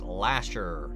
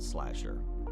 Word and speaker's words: Lasher: wrong the name wrong it's Lasher not slasher all good close enough